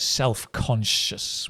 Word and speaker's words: self-conscious: said said she definitely said self-conscious with a sh as in sh conscious self-conscious uh yeah Andrea it it's